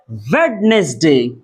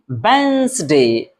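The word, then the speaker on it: Wednesday: वेडनेसडे।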